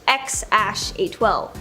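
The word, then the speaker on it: X Æ A-12: Okay, so we all know their first kid's name is X something, or apparently it's pronounced X-A12.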